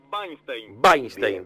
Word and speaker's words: Wajnsztejn: mediodía de FM Sur Cómo pronunciamos el apellido el apellido Cómo vainstein Perfecto perfecto Es más